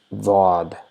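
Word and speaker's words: ضاد: It is almost similar to D in English, but it is not D. So it is D with a rounded shaped mouth. So, and there's a very slight sound of Z.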